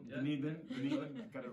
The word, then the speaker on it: Dunedin: And do you know how do you pronounce it? Dunedin. Yeah. Dunedin.